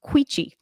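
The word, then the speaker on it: Quechee: Anyway, it's pronounced quichi.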